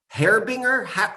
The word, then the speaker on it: harbinger: It's a harbinger. What's that? I never know how to pronounce it. Harbinger. It's the G like that.